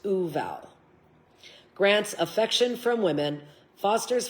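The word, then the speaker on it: Vual: It's spelt V-U-A-L, but pronounced Uval.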